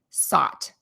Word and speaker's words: sought: So it's as if this word basically has three little letters, S-O-T, sought. So OUGH is pronounced in this word as ah, as one sound.